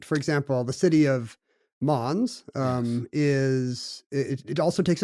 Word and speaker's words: Mons: But let me ask you: is Mons the correct pronunciation? It seems like it should be Mons. Yeah, in French, because this is in the Walloon, the French-speaking part of Belgium.